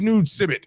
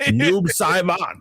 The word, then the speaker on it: Noob Saibot: So I'm under no obligation to pronounce it right. He's Noob Sibbit for right? Noob Saibot.